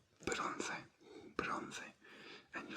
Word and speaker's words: bronce: Then if you want something to be bronze, in Spanish bronze is bronce, bronce, bronce, bronce.